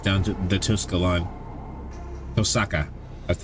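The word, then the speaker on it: Tohsaka: a grimore passed down to the Tusa line tosaka that's how they pronounced it mental switch is flicked I pass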